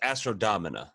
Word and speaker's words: Astro Domina: It's just Astro Domina. You added an I. Yeah, I said Domina.